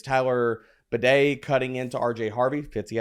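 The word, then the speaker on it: Badie: back to the 3-man backfield, and it's Tyler Bidet cutting into RJ Harvey.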